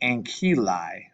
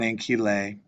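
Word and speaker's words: ancillae: All right, this AE sound letter comes together to make the sound I. So here's a word, ankylae, not ankylae.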